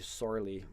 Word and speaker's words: Somhairle: know it's angized to sorly but it's like more like a sor almost like three syllables. Uh go and check out Sorley's work if you're not familiar.